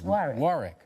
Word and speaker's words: Warwick: your name wrong yeah he he dropped an r and put a w in his place and so I became a wick instead of a Rick and you and you